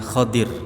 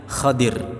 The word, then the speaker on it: Khidir: Alaihissalam secara makna hadis bahasanya sebenarnya nabi Khadir ya Sekali lagi bukan Nabi Khidir cuman ejaan kita Indonesia menjadi apa Khidir kalau maknanya sebenarnya kalau dalam bahasa Arab Rasulullah menyebutnya khodir Alaihissalam jadi Khidir atau